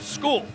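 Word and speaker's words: Scull: And yes, it may look like it's spelled or it's spelled skull, but it's pronounced skull.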